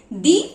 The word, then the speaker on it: the: आवर, जो कि vowel का साउंड कर रहा है, इसीलिए यहाँ पर THE को दी पढ़ा जाएगा, दी आवर।